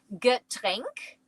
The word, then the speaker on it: Getränk: You pronounce it Getränk, which is a beverage.